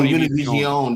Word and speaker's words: Univision: one of those channels, and watched Univision? That's how you say it. Oh, Univision. That's how you say it. No.